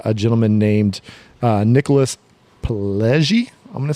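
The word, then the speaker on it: Pileggi: credit with uh a gentleman named uh Nicholas pellei I'm gonna say Peli pellei how do you think pellei p and I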